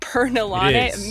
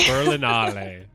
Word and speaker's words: Berlinale: Festival Berlin Al Roundup that's how you say it right Bern beralan immediately said it wrong ber Berlin sorry berlinale there we go all right um so